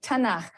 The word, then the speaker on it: Tanakh: also on that sheet tana which is really the letters um and they put little a's in there to make it easier to pronounce because it's hard to pronounce so tana okay um and this